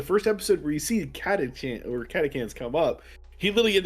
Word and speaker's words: Catachan: He like you actually the first episode where you see catechans come up, he literally in the very bottom right hand corner is like, yeah, it's actually pronounced catecan.